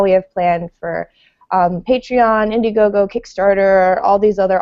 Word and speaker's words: Patreon: it to different ways it's patreon patreon like a patron makes total sense correct all right so